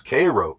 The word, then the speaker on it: Cairo: Thebes, Illinois, Karnak, Illinois, Cairo, pronounced by the locals Cairo, Illinois, all located in southern Illinois, also known as Little Egypt.